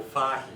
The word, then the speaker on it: Fahey: I'm Fahey, and so for the next hour, my name is Fahey, because that's how it's pronounced in Ireland.